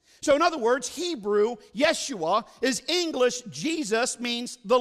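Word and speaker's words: ישוע: name Joshua now in the Hebrew it is pronounced yes you are so in other words Hebrew Yeshua is English Jesus means the Lord saves and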